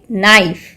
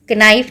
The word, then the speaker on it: knife: Spelling क्या है, KNIFE, लेकिन हम इसको कैसे प्रोनाउंस करते हैं, नाइफ, नाइफ। के की तो आवाज़ ही नहीं आ रही है, कनाइफ नहीं बोलते हैं ना, क का साउंड नहीं आ रहा है।